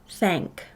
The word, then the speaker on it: thank: new high frequency word this word is thank it does not play fair it's a closed syllable word but the a does not say the sound ah say this word again with me thank nice job we will